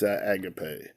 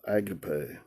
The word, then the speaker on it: agape: It's from the Strong's number 26, and it's agape. Agape. I'll have it pronounced for you.